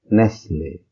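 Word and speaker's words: Nestlé: And French pronunciation is Nestle. Nestle.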